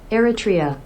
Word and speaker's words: Eritrea: so first of all how to say this erria erria okay erria erria a country in East